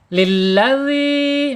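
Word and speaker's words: الذي: Jadi bacaannya dal dan z jadi za gitu. Dza ya. Kalau kita belajar ee yang pernah ngaji ya ini pasti dibacanya bukan za tapi dza. Lilladzi mad thobi'i dzal kasroh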